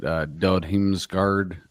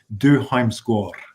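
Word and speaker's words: Dødheimsgard: So like you like I never remember how to pronounce the name, but Dod Himsgard. Yeah, my wife speaks Norwegian, and she corrected my pronunciation is Du Heimskår.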